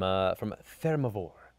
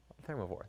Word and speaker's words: Thermavoire: From Thermivore. Thermivore. That's fine. It sounds like it's like Theramore, which didn't do so well in the lore of World of Warcraft.